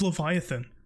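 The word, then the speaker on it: Leviatán: __ ] comments but it's Leviathan there's no h they're not they're not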